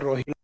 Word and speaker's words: रोहिला: खंडेला की ओर एक गांव आता है रोहिल, हालांकि रोहिल को लिखते टाइम स्पेलिंग इसका ये लिखा जाता है रोहिल, ए लिखा जाता है, तो हिंदी प्रोनाउंसिएशन कई जगह क्या हो रखा है इसका, रोहिला। तो खंडेला, रोहिला, क्या हिला, रोहिला।